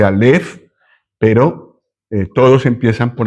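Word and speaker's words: אלף: No se dice a, se dice alf, pero eh todos empiezan por la primera letra del alfabeto, pero es en realidad esto.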